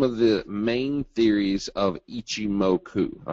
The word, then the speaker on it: Ichimoku: Here are some of the main theories of Ichimoku. All right, and no, I didn't sneeze. That's how you pronounce it.